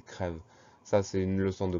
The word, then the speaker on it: crève: On prononce plus il creuve, mais on va prononcer il crève.